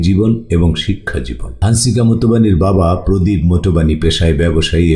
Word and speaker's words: Motwani: তার নাম হচ্ছে হানসিকা মতওয়ানি। হ্যাঁ, মতওয়ানি শব্দটা বন্ধুরা আমরা ইংলিশে যদি MOTWANI উচ্চারণ করি তাহলে হয় মোটোবানি।